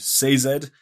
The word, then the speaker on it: Sazed: to go to because there's a character named Sazed. That's how the audio book Yes. narrator announce pronounces it.